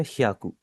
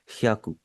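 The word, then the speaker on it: ひゃく: देखिए एक चीज मैं आपको पहले ही बता देता हूँ, मैंने देखा है कि काफी ज्यादा जो लोग हैं ना वो इसे प्रोनाउंस करते हैं हायाकू।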